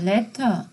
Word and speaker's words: letter: 어 레터 우리가 알고 있는 편지 레터 액센트가 어디 오죠? 레터가 아니죠? 레터 액센트가 처음에 오죠. 그죠? 그 다음에 letters. 그것도 처음에 와요.